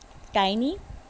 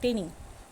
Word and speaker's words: tiny: Tiny, it's not tinny. Correct the pronunciation.